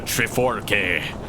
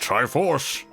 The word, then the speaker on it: Triforce: For it is in that sacred realm that one will find the divine relic, the Triforke, which contains the essence of the gods. Oh, it's that Navi. It's pronounced Triforce.